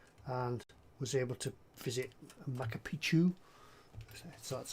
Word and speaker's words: Machu Picchu: But I do wish I'd gone to Peru and was able to visit Machu Picchu, so that's how you say it.